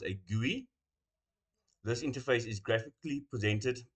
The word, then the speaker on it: GUI: Operating systems allow us to interact with the computer via a graphical user interface, or a GUI, pronounced a GUI.